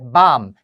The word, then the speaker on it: bomb: 첫 번째 밤 자비가 발음이 나지 않아요 소리가 나지 않아 이런 걸 무음이라 하죠